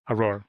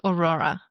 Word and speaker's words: Aurore: Aurore. Yes, but there is no A at the end. Aurore. Yes. Aurore Bakery. Not Aurora. Aurore. Aurore Bakery. Yes, exactly. .com. Yes. Okay, and you're on Instagram? Instagram, Aurore French Bakery and Café Aurore Bozeman.